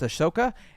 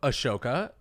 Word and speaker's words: Ahsoka: We need to know what happened with Ahsoka and Count Dooku. Speaking of Ashoka, they did nothing.